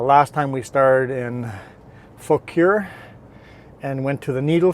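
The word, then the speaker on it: Fauquier: bunch of suggestions on how to pronounce fure um this one seemed to be the most local pronunciation that I could get people that actually live in this area and a couple people suggested this one so I'm going with this one unless someone that says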